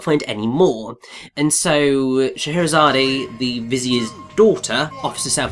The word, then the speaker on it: Scheherazade: Yes, and his wife Scheherazade, or Scheherazade, it depends how you want to pronounce it. I think Scheherazade is mostly the correct one, and that possibly means of noble lineage.